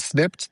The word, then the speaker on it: Snipd: Um to find Snipped, the actually the easiest thing is to go to the App Store, the Google Play Store and enter Snipped.